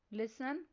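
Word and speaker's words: listen: Next word है लिसन। इस word में साइलेंट लेटर टी पर सर्कल करना है।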